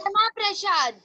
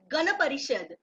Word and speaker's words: Gana Parishad: Gana Prasad. That you are pronouncing in mistake. Repeat after me. It's Gana Parishad.